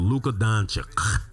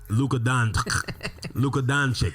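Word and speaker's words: Luka Dončić: talking about luca magic i'm talking about luka doncic luca doncic right you got to put the accent on there okay and finally last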